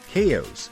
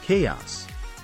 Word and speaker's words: chaos: it is niche moving on to chaos many people say chaos but the correct pronunciation is chaos the ninth word is